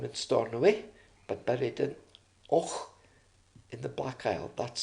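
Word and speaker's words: Avoch: Then there is the famous Canadian explorer, Sir Alexander Mackenzie, born in Stornoway, but buried in Och in the Black Isle. That's spelled A-V-O-C-H, by the way.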